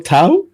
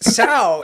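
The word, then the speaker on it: Tso: t isn't it general tau are you saying so it's general sour the t is silent so even we can't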